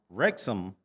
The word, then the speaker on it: Wrexham: the Kent's family from wrexham England I've been told toe was told this morning that I've been saying it wrong so that there's not it's not Rex ham it's rexham wrexham England so no but